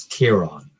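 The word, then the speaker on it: Ciarán: the I'm Irish and in the Irish language the C is pronounced like the letter K so my name is kieron um and you I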